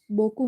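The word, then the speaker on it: beaucoup: So the p is not pronounced at the end. Right? We say bou. Boku means a lot.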